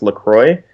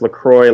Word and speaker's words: LaCroix: people, it's actually pronounced LaCroix, and you would think it was pronounced LaCroix, but if you go to their website, they say it's pronounced LaCroix like enjoy.